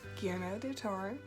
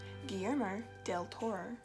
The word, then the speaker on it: Guillermo del Toro: been recognised as the awesome director he is, Guillermo del Toro. I'm going to say that again because I think I mispronounced it. Guillermo del Toro.